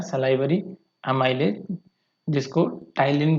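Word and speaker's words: ptyalin: यहाँ से ये सलाइवरी ग्लैंड से आया टाइलिन, टाइलिन को ऐसे लिखा जाता है, ठीक है, इसको प्रोनाउंस टाइलिन किया जाता है।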